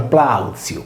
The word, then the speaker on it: Plautius: Varrone, ad esempio, dice che sono dissimili Plautius e Plautus, in quanto il primo si pronuncia Plautziu poiché la –I- che si lega alla consonante -T- si trasforma in una Zeta sorda.